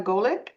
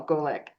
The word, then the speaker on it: Golik: Um, Tracy, our very special guests today are Donna Goolick and Daniel Goolick. Did I pronounce that right, guys?